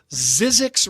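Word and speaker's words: Zzyzx: Zizzix Road in Zizzix, California. That's spelled ZZ YZx.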